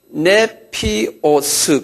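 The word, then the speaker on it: νήπιος: 그런 사람을요, 뭐라고 성서에 써놨냐면요, 이 헬라말로요, 네피오스 그랬어요. 네피오스. 한번 발음해봤어요. 네피오스. N-E-P-I-O-S.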